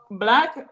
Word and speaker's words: Blaq: So Black, as you probably noticed, is spelled BLAQ, but it's actually a play on words. Instead of saying BLACK, and that actually gears